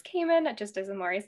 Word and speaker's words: Kaman: about yourself and uh what do you prefer to pronounce um so my name is caiman just as maurice said